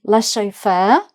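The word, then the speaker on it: laisser: Leair. So again, the zed isn't pronounced. Leair uh means to let literally to let someone do something.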